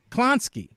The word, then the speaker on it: Klonsky: right how do you say it it's kronsky klonsky i never met a klonsky it doesn't matter i mean how can you mispronounce clowns what i mean is that you